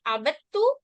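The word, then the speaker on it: عبدتَ: इसमें पढ़ते वक्त आपने गौर किया होगा कि हम दाल को प्रोनाउंस नहीं कर रहे, बल्कि डायरेक्ट बा के बाद हम ता को पढ़ रहे हैं, आबदता।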